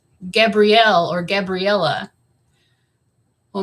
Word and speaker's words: Gabriel: And, you know, most females, the name would be pronounced Gabrielle or Gabriella. Well, my parents decided to pronounce it Gabriel. So it's like halfway between the feminine pronunciation of Gabrielle and the masculine Gabriel. So mine is Gabrielle.